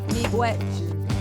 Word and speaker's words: Migwech: Miigwech. How do you say it in your language? Miigwech.